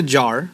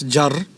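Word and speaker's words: جر: jar don't pronounce a jar it's jar like a dragging R like Spanish right jar and it's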